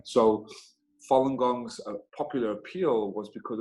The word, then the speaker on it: Falun Gong: chinese spiritual discipline in the buddhist tradition it's pronounced falun gong and it consists of moral teachings a meditation